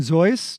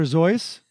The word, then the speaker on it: Seuss: seuss you'd be like you mean zoys dr zoice because that's how he pronounced his name is that right that's